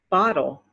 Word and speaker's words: bottle: d sound little little the same thing with the next word bottle bottle i have a